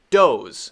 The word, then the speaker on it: does: um this is pronounced doze a female deer is called a doe and more than one is dos dos dos just like the last one we wrote d-o-z-e right doze does all right this